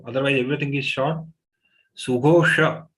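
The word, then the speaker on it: सुघोष: Sughosha, Shatkon, this Sh has to be pronounced by taking the tongue inside.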